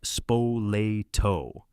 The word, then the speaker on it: Spoleto: The two biggest players were a warlord family from a place called Spaltto. Say it like Spoleto.